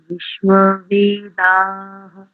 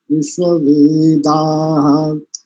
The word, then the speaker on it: विश्ववेदाः: दो स्थानों पर देखो, एक तो आप थोड़ा सा मूर्धन्य शकार पर काम करो, एक दूसरा अंत में जो ये शब्द है ना, विश्ववेदा, वेदा, बस इतना, वेदाहा ऐसा मत कीजिए।